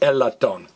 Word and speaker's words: latón: or a euphonium now notice the accent mark we expect to stress the next last file but that ax mark says hey don't stress the next last file don't say a lot don't stress me lot don't and I'll tell